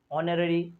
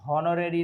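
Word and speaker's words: honorary: ऑनररी post, यहाँ पर मैंने बोला ना, पहचानिए, मैं मिक्स किया हूँ, तो मिक्स करने में पकड़ लिए आप, यहाँ हॉनोरेरी नहीं होगा बल्कि ऑनोरेरी होगा, एच साइलेंट होगा, तो यहाँ पर हो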